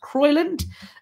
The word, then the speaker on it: Crowland: He spent 2 years at a monastery, left to live as a hermit in Crowland, which I think is also potentially pronounced Croyland, a town in Lincolnshire, England, today.